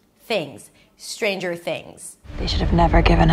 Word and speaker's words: Stranger Things: Stranger Things. Three syllables. The first syllable is strain. You start with s, and then you move on to the tr. The tr sounds sort of like a ch sound.